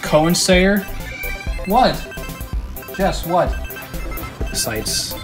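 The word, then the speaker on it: Koensayr: Starfighter and manufactured by I believe it's pronounced Cowan say er what guess what the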